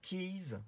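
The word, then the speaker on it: Kies: Il y a une autre société qui s'appelle Keys. Alors ça s'écrit K-I-E-S.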